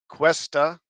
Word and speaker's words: Cuesta: Listing American Assassin, Dexter, and Homeland director Michael Cuesta, that's how you say it.